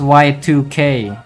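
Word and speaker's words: YIIK: It's pronounced Y2K apparently.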